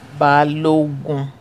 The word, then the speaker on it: Balogun: Balogun. It's actually should have been pronounced Obalogun. Oba in Yoruba means the king. Ogun is war.